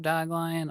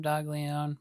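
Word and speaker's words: Doglion: And I am 99% sure I am wrong about the pronunciation of his name because everyone else in the world calls him Dog Lion.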